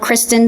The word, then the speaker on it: Christin: a website my social handle my first name is spelled Kristen c-h-r-i-s-t-i-n Kristen is that's all the handles